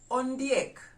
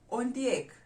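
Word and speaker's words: ondiek: do we refer to hyena in the luau on the egg on the egg i know i know that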